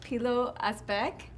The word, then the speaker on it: Pilou Asbæk: with your name it's really cool am i pronouncing it right P little a speck there's wonderful that I know what everyone said